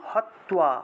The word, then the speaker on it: हत्वा: তারপরে গুরু না হাত্বা, গুরু ন, গুরু ন হত্বা, গুরু ন হত্বা, হয়ের নিচে তয়ের নিচে বফলা থাকায় তুয়া উচ্চারণ।